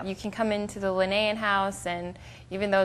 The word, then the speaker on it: Linnaean: really yes compared to ours is it the linnaean house am i pronouncing that correctly that's correct i know that